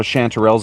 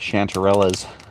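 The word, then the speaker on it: chanterelle: I was just reading it wrong. I was reading it like chanterellas. But now that I'm pronouncing it right.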